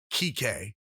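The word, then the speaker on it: Kiké: It even blew up at MLB The Show because it's spelled that way in MLB The Show, even though it's pronounced Kike. Yep. So I'll say it's pronounced Kike Hernandez.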